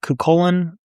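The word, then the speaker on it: Cú Chulainn: Anything having to do with your Irish heroes, people like Cuchulainn, probably butchered that, Cuchulainn, I think is the right way to say it.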